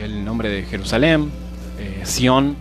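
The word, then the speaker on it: Tziyon: Sión se pronuncia igual, pero se escribe diferente, se escribe con T, Z, I y latina, Y, O, N, ¿sí?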